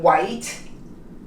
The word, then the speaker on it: white: The word starts with a W, as in white, the H is silent.